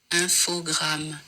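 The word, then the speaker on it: Infogrames: video on YouTube with the apparent official French pronunciation because you know they a French company have a listen infog so apparently that is how you officially say it um I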